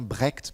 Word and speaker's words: Brecht: Alors, on le prononce bien Brecht, puisqu'il est américain, mais c'est un nom